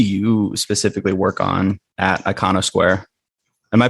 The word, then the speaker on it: Iconosquare: but what do you specifically work on at icono Square am I pronouncing that right icono Square yeah icono Square I'm um in charge of